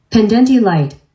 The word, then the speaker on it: pendente lite: Pendente, let's see. Oh, do I have it on mute? Pendente light. Pendente light. I did say it right.